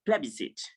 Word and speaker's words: plebiscite: So this one is pronounced plebiscite, and for Y is pronounced kraji, and for